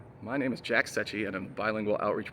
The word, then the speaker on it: Secchi: Sometimes people have a little trouble with that last name, but Secchi is the correct way to pronounce that. So I know we went